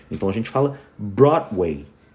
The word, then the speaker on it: Broadway: Brown e aí você começa a pronunciar o som do W que tem o som do U então a gente fala Broadway o som do D